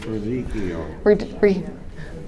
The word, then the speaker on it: radicchio: Yeah, I can't even pronounce it. It's radicchio.